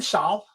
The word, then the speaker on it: Salle: I pronounce it Salle. The E is silent.